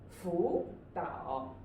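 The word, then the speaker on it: 辅导: But we will write them in the third tone. But when we read them, we will use the second tone.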